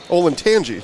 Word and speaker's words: Olentangy: ol and Tangi Liberty Patriots there we go ol and Tangi geez I was saying it wrong the whole